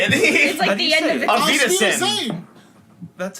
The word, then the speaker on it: Auf Wiedersehen: Aus Wiedersehen. It's like the That's not even, Sweeter that's not even how you say it. it's How like do the you end say of it? it. Auf Wiedersehen.